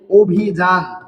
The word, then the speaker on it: অভিযান: কি যে অভিযান অভিজান এই অভিযান শব্দটাতেও দেখেন আদ্য অ এর পরে কি রয়েছে আদ্য অ এর পরে রয়েছে রসই তার কারণে এখানেও অ এর উচ্চারণ কিসের মত হবে অ এর উচ্চারণ ও এর মত হবে।